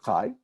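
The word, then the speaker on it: חי: You might have just seen it this way, as chet and yud, but we pronounce it chai.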